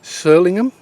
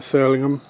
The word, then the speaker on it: Surlingham: today we are at sirlingham since saviors a ruined church now sirlingham is how it's spelt it's probably pronounced more like solemn to be honest it's norfolk we do drop a lot of letters out of names if